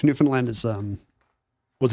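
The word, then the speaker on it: Newfoundland: not Canadian I can say uh what is it newfinland I don't have to say Newland with no d and a and a a short a New Finland and Toronto we can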